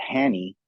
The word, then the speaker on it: Hany: So a lot of people pronounce it Hany in the Middle East, as you know. And then in Farsi and in English, everyone says Hany. You know, there's no wrong way, but everyone, the natural way is Hany.